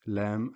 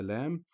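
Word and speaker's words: لا: of writing the letter Lam when Aleph comes after it. So the pronunciation is still the same, which is La. It is simply that. Lam followed by Aleph is pronounced as La and is referred to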